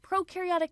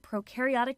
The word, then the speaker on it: prokaryotic: We explain the differences between prokaryotic cells and eukaryotic cells using the popular mnemonic that pro rhymes with no and eu rhymes with do.